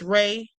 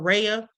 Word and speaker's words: Rea: Beach Boys co-founder Brian Wilson, singer Chris Rea, or Rhea, it's spelled R-E-A, and iconic conservationist Jane Goodall.